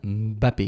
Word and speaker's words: Mbappé: Et donc on prononce Kilian Mbappé MB. C'est lui qui a dit que ça se prononçait comme ça.